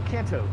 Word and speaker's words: Kanto: Yeah, Canton. Or Kanto. Kanto. I keep adding an N to it.